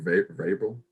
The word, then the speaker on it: Vrabel: Vrabel.